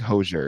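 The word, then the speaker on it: Hozier: I think hoser is how you say it. Like like kosher but hoser koser kosher hoser.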